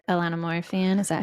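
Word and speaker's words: Ilona Maher: like Instagram reals so I'm a big like Elana Mo fan is that how you say her name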